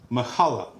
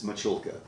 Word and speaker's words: Michulka: is our guest Mahala I just butchered the hell out of it you look at the camera and you tell them what your name is it's machulka but that's okay half